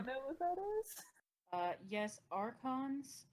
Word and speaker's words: archons: Yes, archons, which is how you actually pronounce it, but not how it looks in a book, they were essentially like the prime ministers of Tevinter.